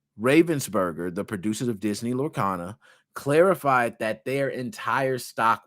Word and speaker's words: Lorcana: speculation that the stolen cards were from Disney Lord Canna because Disney or lorcana excuse me I might be pronouncing that we're on Disney lorcana a highly